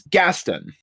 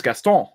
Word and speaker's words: Gaston: Now, in the Anglo way of saying it, which is English, America, England, all that kind of stuff, it's Gaston.